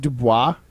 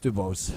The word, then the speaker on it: DuBose: like to cut draft picks but is it pronounced Dubois no it's Dubose it is Grant Dubose yeah he's out here